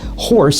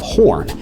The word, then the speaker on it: Horn: who during roll call accidentally pronounced his surname as Horse instead of Horn, and the moniker stuck